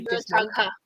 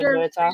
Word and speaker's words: Murtagh: It says Murtagh is pronounced Mur, and then it says tag. Then it says Mur rhymes with per.